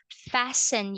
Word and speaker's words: fasten: Now, this word right here is silent T. When you say silent in English, meaning you don't pronounce it. Okay, so silent T. So we pronounce this one as fasten your seat belt.